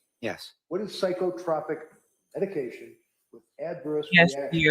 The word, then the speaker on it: psychotropic: What is psychotropic medication with adverse he said stop saying no it's pronounced psychotropic and okay it's psychotropic medication is